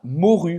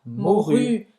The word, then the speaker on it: morue: De la morue. Você não vai pronunciar esse E no final.